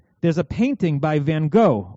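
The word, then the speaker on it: Van Gogh: there's a painting by Van go or pronounced van HW according to the stoyers that was painted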